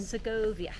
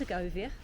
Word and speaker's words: Segovia: Siggoia. Segoia. And we did speak to a lady in the shop yesterday when we were buying a badge. Um, and it is pronounced Siggoia perfectly, which I was quite surprised about.